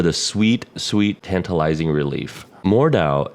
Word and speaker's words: Mordhau: sweet sweet tantalizing relief more Dao is a beautiful game so far I believe that's how you pronounce it we decided to jump